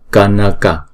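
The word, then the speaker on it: कनक: Ba chữ A này là âm ngắn hết. Đó. Thì chúng ta đọc là Kanaka.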